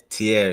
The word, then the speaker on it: Tierre: Now, correct me if I'm not pronouncing it right, man. Tierre. Yeah, Tierre, yes Okay.